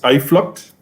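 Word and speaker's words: Uitvlugt: Okay, so it's Iflot? Yeah, Iflot, yes.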